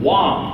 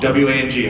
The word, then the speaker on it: Wang: Wang, W-A-N-G, how you pronounce my name, not Wang.